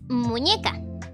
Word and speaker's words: muñeca: Okay, so we have the second one that I wanted to teach you is muñeca.